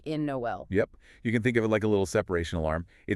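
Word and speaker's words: Noël: It forces you to pronounce them separately. So Noel, not Noelle.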